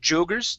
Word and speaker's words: joggers: Next up, we have the word joggers instead of joggers. Jo, it's an ah sound.